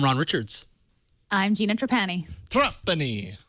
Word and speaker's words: Trapani: Trapani.